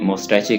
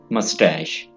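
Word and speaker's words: moustache: मस्टैश, मस्टैश, अक्सर लोग इसको गलत प्रोनाउंस करते हैं, कोई मोस्टैचे कहते हैं तो कोई और तरह से प्रोनाउंस करते हैं। आपने इसे पढ़ना है मस्टैश, मस्टैश यानी मूंछ, मस्टैश।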